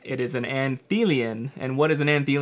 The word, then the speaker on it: Anthelion: that up to make sure that I was pronouncing it right it is an anthe lien and what is an auntie lien you ask